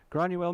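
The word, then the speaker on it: Granuaile: Granuel McTiernan.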